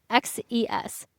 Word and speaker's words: Xerxes: I was always so confused by how you say this, but it's Xerxes.